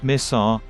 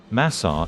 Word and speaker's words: مصر: Misr, Arabic pronunciation, is the classical Quranic Arabic and modern official name of Egypt, while Masr is the local pronunciation in Egyptian Arabic.